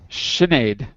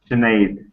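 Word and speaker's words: Sinéad: Anyway, it's an Irish name. That's why it's pronounced differently than it looks.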